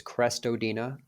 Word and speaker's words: Crestodina: best social network uh my last name sounds like it's spelled or spelled like it sounds it's crestodina c-r-e-s-t o-d-i-n-a look me